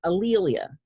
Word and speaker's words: A'Lelia: And at the end of the conversation, Phil said to me, "Your name is Alilia." My name is spelled A''Lelia. Your name is Alilia.